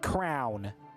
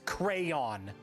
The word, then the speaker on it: crayon: which subsequently also rhymes with owl pronounces crayon crown. Absolutely not. Absolutely 100% wrong. It is not nor has it ever been nor will it ever be crown. It's crayon. There's a Y in the spelling.